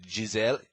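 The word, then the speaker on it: Gisele: he he invokes the great jizelle zelle is the proper way to pronounce it um and says you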